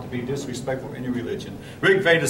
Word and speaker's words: Rig Veda: trying hard not to be disrespectful any religion Rick Vader spelled r-i-g-v-e-d-a for those who I see some of you in the back having a hard time seeing it uh Rick Vader again I hope you won't just take my